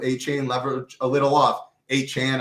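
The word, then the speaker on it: Achane: You can play him with A-Chain, or you cannot play him with A-Chain, leverage a little off. A-Chan, I know that's how you say it.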